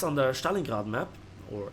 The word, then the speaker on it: Stalingrad: and again it's under Stalin god map or Stalingrad as it is pronounced in English some people who are